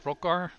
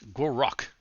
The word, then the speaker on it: Gor Rok: Was it Crockar? I think was it Rockagar? It is Gor Rock. You know, I I I said it wrong both times.